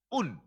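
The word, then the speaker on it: οὖν: Yaitu kata un. O-U-N. Bacanya un.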